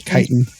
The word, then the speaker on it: chitin: I thought it was a hard C sound on that word. I don't know. It's chitin. Whatever.